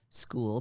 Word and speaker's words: Skool: It is /school, SKOOL, because the name of the platform is school, but they spell it SKOOL.